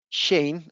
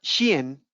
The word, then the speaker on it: Shein: Bien, entonces nace esta compañía que se llama Shein, o se pronuncia Shein, ¿cierto? Porque realmente es una compañía de origen chino.